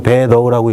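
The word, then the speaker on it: 北斗: 중국말로 배도라고 읽어요. 예, 여러분 중국 가셔서 이거 보시면 북두하고 안 읽죠? 예, 배도. 이렇게 읽습니다.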